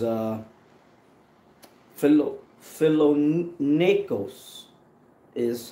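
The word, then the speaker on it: φιλόνεικος: 11 and 16 and it says uh fellow fellow Nikos is how you say that it says find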